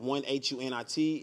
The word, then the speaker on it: 100: We pronounce it 1HUNIT.